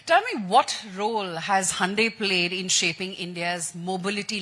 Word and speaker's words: Hyundai: It's Hyundai. Sunday and Hyundai.